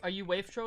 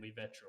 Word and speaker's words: Wavetro: Yeah, our studio name was going to be Wavetro, which I pronounced at the time Wavetro, but just call it Wavetro now since more people say that.